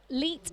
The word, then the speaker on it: leet: So apparently 1337 looks like Leet, L-E-E-T, when it's spelt, which is elite.